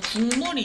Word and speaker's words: 국물: 이 비음화의 대표적인 예로는 국물이 있죠. 국물로 발음되죠. 이 기역이 비음, 미음을 만나서 이음으로 바뀌는 거예요.